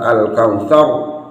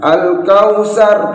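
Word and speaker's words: الكوثر: Ini rohnya harus dibaca tebal. Al-kautsar, bukan al-kautsar, bukan al-kautsar, bukan al-kautsar. Saw, ro ri ru baw, ro ri ru baw, saw. Harus seperti itu, ditebalkan biar bacaan kita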